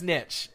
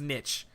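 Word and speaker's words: niche: A valid way to pronounce Nitch. It's a valid way to say Neesh is Nitch. You can say that. That's a real thing too.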